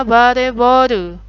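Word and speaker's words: バレーボール: Volleyball jadinya bareboru, vare, volley. Ya, dari kata volley jadinya vare. Vare, boru. Ball itu boru.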